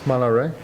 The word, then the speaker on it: Malaret: I am Malare. Can you spell that? M A L A R E T. The T is mute.